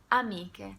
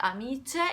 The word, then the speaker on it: amiche: Amiche. By now you should know how to pronounce C-H-E, C-H-E together, and you should know by now that the pronunciation is strong. So it's not amice, it's amiche.